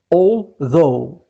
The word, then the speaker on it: although: And although it is made of copper, and although ورغم, although GH at the end we don't pronounce it.